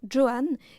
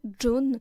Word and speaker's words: Joan: et avec son accent, elle prononce son prénom Johan et non John, une manière de prononcer qui sonne plus élégante pour le public de l'époque.